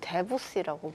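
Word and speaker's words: Debussy: 야, 저도 사실 드뷔시 달빛 말고는 정확히 클래식 곡을 잘 모르니까. 근데 미국에서는 드뷔시를 데뷔시라고 부르던데.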